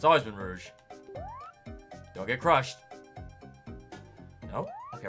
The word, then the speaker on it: Rouge: chronicles it's very butchered rogue or rouge it's always been rouge you had me questioning myself for a second there it's always been rouge don't get crushed nope